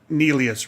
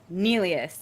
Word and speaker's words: Nelius: time because it does it does more like the German pronunciation so we're here today